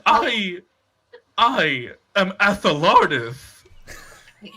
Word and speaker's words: Athelardus: No, Athelardus is how you pronounce it. When it's spelled, the letter A, the word the, and then lardus.